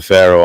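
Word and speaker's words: Faroe: are the Pharaoh Islands uh spelled with an F but they sound very like the Pharaoh Islands so it could be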